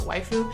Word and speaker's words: waifu: a wife who is it's just the Japanese pronunciation of the word wife so usually it's like your favorite usually anime character which isn't quite it's called a waifu you can use it